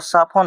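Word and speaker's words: soften: ये टी को हटा देंगे तो यहां पर साफन हो जाएगा।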